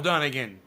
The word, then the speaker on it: Dunnigan: Just like it's spelled.